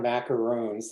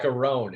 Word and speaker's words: macaron: They're not macaroons, they're some French cookie. yeah, The word They're looks like macaroon. kind of like macaroon, but it's pronounced like- macaron. It's pronounced macaron.